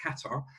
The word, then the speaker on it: Qatar: headquartered to go out to a place called qatar or he's pronounced qatar and so i went from hp to the